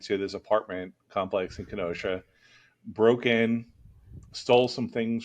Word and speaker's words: Kenosha: a few years ago from Kenosha, which is the proper way to say it, Kenosha.